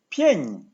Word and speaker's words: pięć: P-I-E with a tail, pięć, pięć. Say it with me, pięć, pięć. This letter might look very frightening, but you already pronounce it in English when you say ciabatta, machismo, nature, or my favorite, gotcha. It's a very soft, very delicate chi, chi.